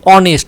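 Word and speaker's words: honest: ওই যে এইসের উচ্চারণ কি? অনেস্ট, অ বলতে কিন্তু আমাদের এই আই এর মধ্যে রয়েছে, সে কারণে এইস উচ্চারণ, এইস কিন্তু কনসোনেন্ট হওয়া সত্ত্বেও উচ্চারণে অ রয়েছে, সে কারণে অ্যান।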